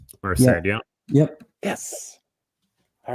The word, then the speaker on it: Merced: Merced, yeah.